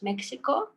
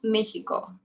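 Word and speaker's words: México: mexico in spanish it's mexico that's really important when you meet a person who is mexican you call him mexicano so you don't pronounce this x as x you pronounce it as he i think for for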